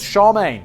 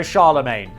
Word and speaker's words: Charlemagne: I looked it up it says Charmaine also Charlemagne both are acceptable one is more correct my